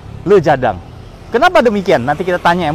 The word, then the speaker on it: Le Jardin: Marriott namanya kalau tulisannya Tulisannya lu jadiin Tapi bacanya Harusnya lu jadang Kenapa demikian nanti kita